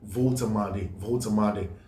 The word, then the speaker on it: Woltemade: If I mentioned Woltemade and somebody corrected me, somebody I suppose lives in Germany mentioned that the name, the W is pronounced V, like Volkswagen. That's pronounced Nick Woltemade.